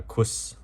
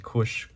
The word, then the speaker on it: Kus: as the Kush Comics I think I was pronouncing it incorrect uh quis in previous videos but these are the Kush Comics uh they are pretty